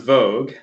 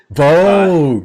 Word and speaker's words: Vaage: your last name so my last name is pronounced vogue vogue yes tell you don't